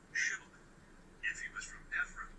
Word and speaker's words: Shibboleth: If he was from Ephraim, he would say Shibboleth because he would say Sibboleth because people from Ephraim cannot pronounce the word correctly.